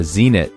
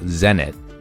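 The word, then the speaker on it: Zenist: than 100 bones and the Zenit no zenet rhymes with send it is an intermediate shoe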